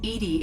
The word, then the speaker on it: EDI: a specific inquiry why are you named edie edie is the phonetic pronunciation of edi that is an acronym for